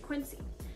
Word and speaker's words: Quincy: we have quincy quincy i was saying it like queasy earlier so i made sure i said it right quincy he was very very